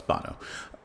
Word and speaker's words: Bono: which is in a lifetime which featured uh Bono as well of course from YouTube. Is that how you say his name? Bono. Bon. No, it's Bono.